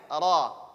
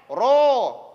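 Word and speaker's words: ر: Jadi jangan menyebutkan huruf ra dengan ro. Ro. Bukan. Salah. Ra. Pengucapannya mulut tetap biasa. Ra, bukan ro.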